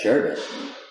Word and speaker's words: sherbet: sherbet i say sugar what's that word that's sherbet that's how it's spelled because sherbert has an r before the t it doesn't though it